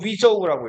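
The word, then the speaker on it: 禹州: 이거를 그 중국어로 읽으면 위저우라고 읽어요. 자, 자 우주.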